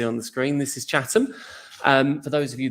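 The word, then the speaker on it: Chatham: in in much more detail but um it's pronounced chattam and uh I know that can be hard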